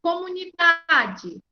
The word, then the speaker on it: comunidade: Agora na palavra aqui do livro, comunidade. Qual é a mais forte? Comunidade. É da, tá certo?